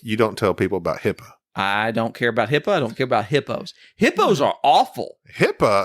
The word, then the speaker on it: HIPAA: It's HIPAA. HIPAA. It's spelled weird.